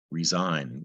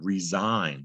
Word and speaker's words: resign: In this example, you don't hear the G, resign. And secondly, the S makes a Z sound, resign. Seems like it should be spelled with a Z.